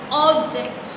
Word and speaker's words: object: Object, and this one is object. Object, the stress is on object.